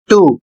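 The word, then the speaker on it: two: अगला शब्द है टू। इसमें भी डब्ल्यू साइलेंट है।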